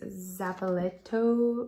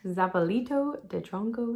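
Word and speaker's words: zapallito de tronco: to grow is this zapaletto no i butchered that i'm sorry zapalito de tronco squash um this is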